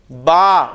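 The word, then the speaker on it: ب: इस्तेमाल होंगे उन हरूफ को हमने इसी तरह प्रोनाउंस करना है। अब हम अरबी लफ्ज में जब बे आएगा तो हम उसे बे नहीं बोलेंगे बल्कि क्या बोलेंगे?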